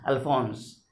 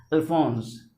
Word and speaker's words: Alphonse: S is pronounced as Z. E is silent. This means the first word, the first name of the author is Alphonse. Alphonse.